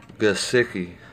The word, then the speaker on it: Gesicki: Gesicki.